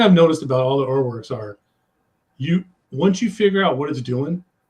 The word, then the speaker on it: Urwerk: This is a brand that I don't know a lot about, and I think it's pronounced Urwerk rather than your work.